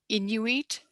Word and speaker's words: Inuit: these missionary schools had this impact of erasing inuit is how you pronounce it culture was he supportive of inuit